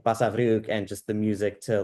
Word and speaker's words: Basavriuk: Basavriuk. It was a quick. It was a quick Basavriuk, and you rolled the R a little bit, I didn't did.